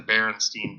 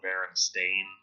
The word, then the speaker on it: Berenstain: It's like the Berenstein Bears, but it's spelled Berenstain.